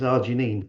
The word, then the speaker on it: arginine: head around the word arginine. And because she's a scouser, I said just imagine your daughter's called Janine, right? And then it's Arjginine.